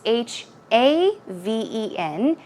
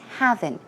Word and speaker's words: haven: safe haven that word don't get it mixed up with the word heaven it's not h e AV en it's H a ven and it's pronounced haven not having safe haven is kind